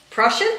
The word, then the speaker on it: Prussian: Prussian, right? Russian, yeah, just like Russian with a P.